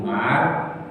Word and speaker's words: Umar: Kalau ada wawunya tidak perlu dibaca Umar, harus Amr. Karena nggak ada wawunya maka ini pasti Umar. Cuma kita yang baca ini sudah ada urusan dengan wawu karena ada tanda bacanya. Tapi aslinya tidak ada tanda baca ini sehingga tulisannya sama. Umar ya ain mim wawu, Amr ya ain mim wawu.